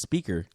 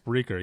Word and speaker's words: Spreaker: I thought it was Speaker. No, it's actually called Spreaker? Spreaker. Yeah, Oh, okay. SPREA, Oh, okay. and then. Oh, see, I would have said it wrong.